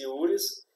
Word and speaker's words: juris: Ela vem da união das palavras iuris, que escreve J-U-R-I-S mesmo, escreve mais assim, mas pronuncia-se iuris, e prudentia, P-R-U-D-E-N-T-I-A, mas pronuncia prudentia, como fosse um T-C, prudentia.